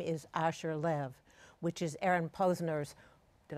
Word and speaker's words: Asher Lev: we're going to talk about my name is Asher live which is Aaron Posner's did I say it right yes wonderful adaptation you say Asha right it's wonderful if you listen to this